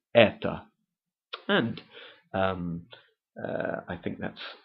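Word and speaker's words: это: comes the word ETA spelled e t o but pronounced ETA and um I think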